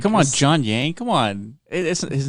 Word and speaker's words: Yang: Well, MSNBC showed the crowd surf, but they got his name wrong. They said it was John Wang. John Yang.